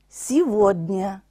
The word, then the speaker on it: сегодня: 该读作 Витя。живем, сегодня。这个地方的 г 发作 v 的音，сегодня。